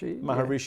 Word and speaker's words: Maharishi: but do you mind sharing with us the story when you met, and I really struggled to pronounce it, the Maharishi? Maharishi.